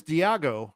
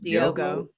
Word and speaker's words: Diogo: His name's Diego or Diego. How do you say his name? Diego, I think. Diogo.